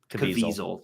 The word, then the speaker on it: Caviezel: Caviezel. Jim Caviezel. Caviezel. That's how you pronounce it.